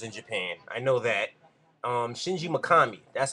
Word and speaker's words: Shinji Mikami: Shinji Mikami, that's how you pronounce that, is the guy who made Resident